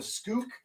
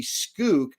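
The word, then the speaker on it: Pskook: Okay, let's talk about the spook, the skook. I think the P is silent, okay?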